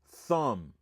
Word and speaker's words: thumb: This word is thumb. Thumb. Thumb. They thumb. Thumb. You just said thumb. Okay. Thumbs up. Thumbs up. It comes to this is thumb. Okay. A can cross off the B right there.